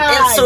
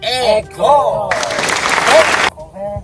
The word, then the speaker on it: Eko: Bukan Erso guys, itu bacanya Eko.